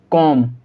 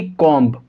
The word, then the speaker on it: comb: तो हम इसे क्या पढ़ेंगे? कॉम। क्या पढ़ेंगे हम इसको? कॉम, ना कि कॉम्ब। ठीक है।